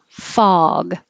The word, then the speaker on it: fog: the email or something fog this is ah so the jaw is low and the lips are straight fah fog there's a